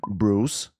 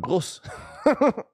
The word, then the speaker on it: Bruce: Ist nicht Bruce, sondern Bruce.